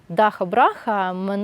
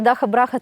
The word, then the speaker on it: ДахаБраха: - We teach foreigners how to pronounce the letter “kh”. - Because they're still say Dhaka-Braka.